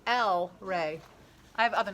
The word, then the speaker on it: EllRay: goes by l ray l rey but they make it look like el rey l right but it's l e it's l rey i have other names